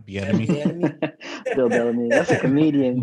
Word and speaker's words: Bieniemy: But then when you have a chance to hire the Chiefs offensive coordinator, is Bellamy? Bill Bellamy? No, it's Eric Bieniemy.